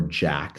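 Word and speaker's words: JAK: and we decided to focus on the topical Jack inhibitor a jack inhibitor spelled j AK Jack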